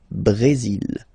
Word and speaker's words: Brésil: Okay, you will pronounce the final L here. And then remember, accent aigu goes like E. Bré. Brésil. Le Brésil.